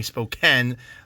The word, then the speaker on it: Spokane: This is another Spokane Seattle spoke, pardon me, Spokane. I always mispronounced this one.